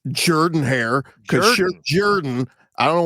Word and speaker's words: Jordan-Hare: It's Jordan-Hare, because Jordan.